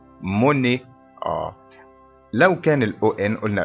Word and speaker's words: Monet: الأو تي في نهاية الكلمة الفرنسية تنطق فنقول إيه Monet.